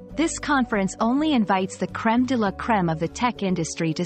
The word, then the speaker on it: crème de la crème: peak of Excellence interestingly creme DEA creme is one of those phrases that has been borrowed directly from French into English retaining its original pronunciation iation and meaning this